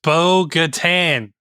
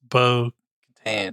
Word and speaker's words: Bo-Katan: It is Bo-Katan. Bo-Katan, whatever. You put it in. You make it sound like a beach resort. It's Bo-Katan.